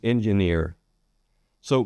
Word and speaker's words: engineers: So it's important to get that strong J N for that soft G in engineers.